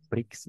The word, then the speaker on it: prix: El precio, prix, se escribe Ujú. prix, ¿no? Pero se pronuncia prix solamente.